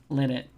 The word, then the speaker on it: Linnet: But Linnet to rhyme with Bennett. Linnet.